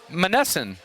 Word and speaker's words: Monessen: Am I pronouncing it right? Is it Monessen? Monessen.